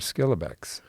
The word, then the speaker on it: Schillebeeckx: we're focusing on in this conversation is Edward skilbeck you got credit for pronouncing that correctly well you coached me up